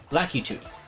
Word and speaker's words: Lakitu: Lakitu. I never like that pronunciation. I always call them lactus. With a low emphasis on the middle syllable.